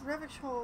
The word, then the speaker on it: Revachol: He pronounces Revachol with a hard K, unlike other people.